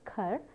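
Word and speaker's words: خر: Now, I have given you some data from the language Persian, where khar, this pronunciation is khar, is to buy, and id is the past tense.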